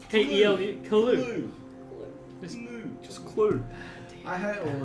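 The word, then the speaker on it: Kelu: I said it was K-E-L-U, alright? So it's Clue. K-E-L-U. Clue.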